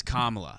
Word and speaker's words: Kamala: and she was like, "Just so you guys know, it is Kamala. So next time, and if you don't say Kamala, you're racist. So next time you say Kamala, like she said it wrong as she was trying to be like, if you're saying it wrong, you're racist, and she got it wrong.